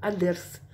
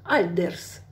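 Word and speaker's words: الدرس: Смотрите, друзья, здесь написано альдерс. Альдерс. Лим. Лим. Не читается здесь. Мы будем изучать, почему. Потому что дальше дель буквочка идет. Просто запомните, это солнечная буквочка. Перед солнечными не читается «эль».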